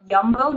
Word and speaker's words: Jumbo: the Albert Heijn spar yumbo not jumbo I always still say it wrong and you have I